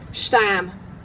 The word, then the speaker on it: stam: From my grandmother, her granddaughter, I have one word in her dialect, stam. Long ah, half rhyme with steam, its meaning not enough, as there's nary stam of tea nor sugar nor.